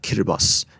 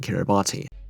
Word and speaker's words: Kiribati: Guys, just try and pronounce stuff the way native people like Qatar and Kiribati instead of Qatar and Kiribati.